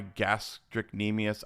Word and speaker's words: gastrocnemius: Okay, so the last episode we recorded was I tore my gastrocnemius. I probably pronounced that wrong. Mm, Gastroc or gastro. It's GASTROCNEMIUS. okay.